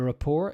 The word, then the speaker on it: rapport: me know okay so the Rapport is no T at the end it's not pronounced next is body language